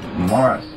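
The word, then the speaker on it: Maurice: And in fact, Bob Hempel asked him, he said, well, Morris, they didn't pronounce his name Marie, he said, Morris, why don't you breed dogs?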